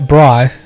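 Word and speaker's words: braai: moves what's bry okay bry but it's spelt b-r-a-a-i it's the it's basically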